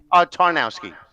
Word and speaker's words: Tarnowski: Tarnowski.